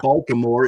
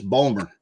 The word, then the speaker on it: Baltimore: It's like it's not Baltimore. It's Bulmer.